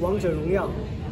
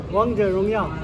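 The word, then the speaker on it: 王者荣耀: In China, it's named Wang Zhe Rong Yao. How you say it? That's Chinese. Wang Zhe Rong Yao? Wang Zhe Rong Yao.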